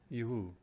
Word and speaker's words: Yehu: And the answer is yes. Yehu.